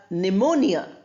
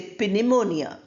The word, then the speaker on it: pneumonia: Then you have pneumonia. P is not pronounced. We don't say pineimonia. We pronounce only the n.